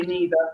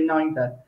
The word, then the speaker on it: neither: and i would say scott she might say neither i say neither i think it might be maybe in in